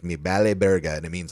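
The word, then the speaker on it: me vale verga: And it's remember the V's are kind of pronounced like B's like like vente is bente. Um so it's me bal burger and it means like I don't give a Yeah.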